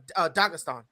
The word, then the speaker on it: Dagestan: Dagestan.